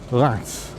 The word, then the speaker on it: Reims: info just to ask how do you pronounce the town name and the answer is Lance which isn't at all how it's spelt or something close to